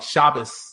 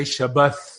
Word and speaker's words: Shabbat: When the tav doesn't have a dagesh, do the th, like while like Ashkenazim do the sa, like Shabbos. What Yemenites will say Shabbat, Sephardim will say Shabbat.